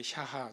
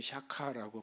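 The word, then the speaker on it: שָׁחָה: 제가 경배, 예배 이게 구약에서는 그게 샤하 또는 샤카라고 발음을 하는데 샤하가 나는 거죠.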